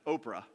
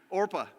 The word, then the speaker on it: Orpah: for orpah and ruth orpah i always want to pronounce oprah which is really difficult i mean it's one letter different so can we call her oprah or is that going to be distracting orpah orpah it is orp and ruth they're